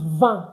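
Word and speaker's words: vingt: Don't forget it's van, not v. It's va because I N I beg you get this thing and you start pronouncing French words like a pro. I N is pronounced as a.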